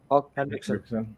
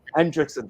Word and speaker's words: Henriksen: How do you pronounce his last name? Henriksen. Hendrickson, that's him.